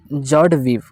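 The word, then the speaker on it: joie de vivre: जैसे देखो यहाँ पे क्या है, जॉय डी वीव, देखो इसको हम क्या पढ़ेंगे, जॉर्ड वीव, क्या पढ़ेंगे, जॉर्ड वीव, इसका प्रोनाउंसिएशन जॉर्ड वीव। क्लियर। तो जॉर्ड वीव, यहाँ विवरे आपको लग रहा होगा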